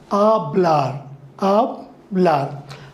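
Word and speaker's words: hablar: as we already discussed this hedge is silent in Spanish so it is known as a bla bla and to speak now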